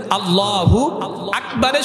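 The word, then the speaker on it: الله أكبر: দিলে কি হয়ে যাবে নামাজ ফাসেদ হয়ে যাবে আল্লাহু আকবারের শুরুতে আলিফ আকবারের শুরুতে আলিফ এখানে টান দিলে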